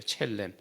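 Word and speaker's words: צֶלֶם: 우리의 형상을 따라, 그러니까 형상이라고 하는 것은 이제 첼렘이라고 얘기합니다. 이게 더 정확한 발음이래요. 첼렘.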